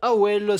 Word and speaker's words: Avel: Qui s'appelle Awel. A-V-E-L. Attention, le V se prononce comme un W.